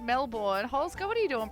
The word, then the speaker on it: Melbourne: Hey, we don't pronounce it Melbourne. Yay, congrats. Look, the computer freaked out just seeing Melbourne written like that. No, it's not like Mel Gibson. We say Melbourne.